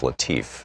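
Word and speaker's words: Latiff: Our book today is Future War, Preparing for the New Global Battlefield by Robert, I believe it's pronounced Latif, L-A-T-I-F-F. This is from the introduction.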